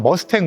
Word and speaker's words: 무스탕: 하지만 유교 전쟁과 관련해서는 무스탕 전투기를 이제 영 영 영문 발음을 명확하게 해서 머스탱 머스탱 이렇게 하는데 실제로 공군 참년 용사분들은 머스탱이라고 하면 화를 내십니다.